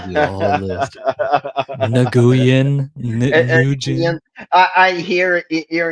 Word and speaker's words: Nguyen: it sounds like And ko, and but the last name is pronounced, if I am not mistaken, Nguyen. it's just say like WIN and you say it right.